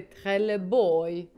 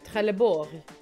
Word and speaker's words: Trelleborg: But now you also have to pronounce it. Trelleborg. Trelleborg. Why does it sound French? Because it's Skånska.